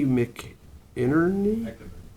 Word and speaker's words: McInerney: All right, so next up is April Gornick, and April will be followed by Jay McInerney?